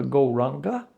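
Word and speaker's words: Gauranga: So for this opening meditation, we're going to use the mantra Goranga. Так, для этой первой медитации мы будем использовать мантру Горанга. Divided into 4 syllables, Go, Ra, Anga.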